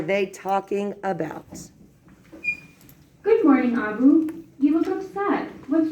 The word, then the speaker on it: Abu: Do you have Abu? It rhymes.